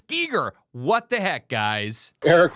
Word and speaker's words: Giger: is em gist and I thought it was G like HR Gyer but it's absolutely not and it's not guer either it's Giger what the heck guys